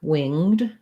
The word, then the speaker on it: winged: word winged or winged so i'm thinking that it might tell us the verb it winged through the air is where we have the one syllable and a winged creature for the adjective um okay so this